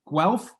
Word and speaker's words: Guelph: uh at the university of how do you pronounce that byron well guelph oh yes beautiful awesome for those listening let's